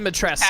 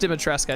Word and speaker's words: Dimitrescu: Lady Dimitrescu. It's just Dimitrescu, I think. Oh, it is Dimitrescu. She has a cool hat. Yeah, I'm pretty sure the U is silent.